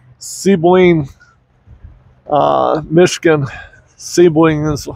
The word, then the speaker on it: Sebring: Sebring is how they pronounce it.